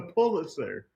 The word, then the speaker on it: Pulitzer: A Pulitzer.